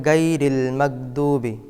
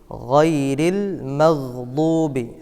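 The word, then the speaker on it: غَيْرِ الْمَغْضُوبِ: আবারও বলছি স নামতা আলাইহিমরিল আলাইহিম অনেকে এখানে উচ্চারণ করেন গাইরিল মাগদুবি গাইরিল বাংলা ভাষায় গ উচ্চারণ করলে হবে নাইল মাদুবি আবারো বলছি গাইরিল মাদুবি আলাইহিম গলায় একটু চাপ দিতে হবে আলাইহিম অনেকে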